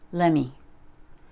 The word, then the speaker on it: lemme: a very shortened way let me becomes lemme let me show you